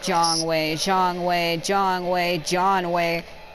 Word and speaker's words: Jiang: Do you guys always say his name wrong? It's like they're saying John away. It's Jiang.